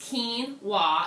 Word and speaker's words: quinoa: frustration back right away um quinoa is actually pronounced quinoa even though it's spelled with a q and